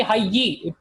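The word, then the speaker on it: حَيِّ: So fi hayyi. It's not hayyun, but it's fi hayyi.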